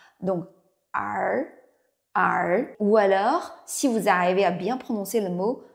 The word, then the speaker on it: 儿: Si vous parlez anglais, vous pouvez penser à un mot her, elle. C'est la fin de son her. Un petit peu la même chose, avec la langue légèrement roulée.